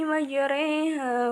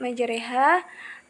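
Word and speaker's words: مجراها: Menurut bahasa, imalah berarti miring, dan adapun menurut istilah, imalah ialah memiringkan suara fathah ke arah kasroh atau suara alif ke ya. Cara membacanya seperti mengucapkan kata sate.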